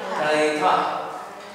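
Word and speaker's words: Θήτα: itu theta theta ya Teta itu pengucapannya theitahah teitah ya ditransliterasikan dengan th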